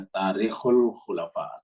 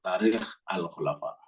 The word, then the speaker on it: Tarikh al-Khulafa: Jadi judul bacanya Tarikhul Khulafa atau Tarikh Al-Khulafa.